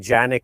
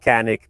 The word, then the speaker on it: Canik: It should be something like Janik, also because it's a Turkish name, but we've gotten so used to calling it Canik, me and other people, that now the mispronunciation just sticks.